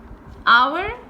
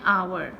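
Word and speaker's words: hour: अब ये जो है इसमें हमारे पास H इज साइलेंट और this starts with the O. नाउ O इज the vowel sound, so आवर, सो हम यहाँ पे आर्टिकल लगाएंगे एन.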